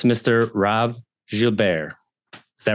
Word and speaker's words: Gilbear: Robb Gilbear. Is that right? Wow, you nailed the pronunciation.